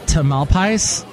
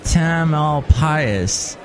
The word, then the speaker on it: Tamalpais: Does it rhyme with anything? Mount Tamalpais. I guess it could be like a pious pope, because they have all